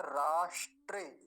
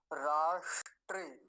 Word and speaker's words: राष्ट्र: तामा अगला शब्द है राष्ट्र राष्ट्र काम की बात क्या है मूर्धन्य सकार वो भी हलंत आधा है तो उसका अच्छे से ध्यान से उच्चारण करेंगे राष्ट्र राष्ट्र ऐसा करके